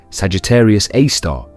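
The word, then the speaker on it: Sagittarius A*: Its name is Sagittarius AI, pronounced Sagittarius A star, and it lives approximately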